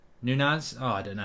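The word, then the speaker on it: Núñez: not logical uh mark the second n in nunes is pronounced like the gn in lasagna uh nunas oh i don't know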